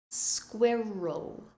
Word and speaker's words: squirrel: word to say because you have the squ at the beginning and the r in the middle ending with a sound so listen very carefully squirrel squirrel now try and say it